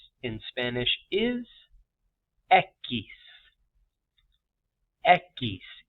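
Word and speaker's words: equis: name for the letter x in Spanish is Eis Eis e q i s Eis for number two number three The Vow blank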